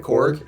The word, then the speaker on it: Korg: yeah, he's got mad Korg energy. Is that how you say it? Korg?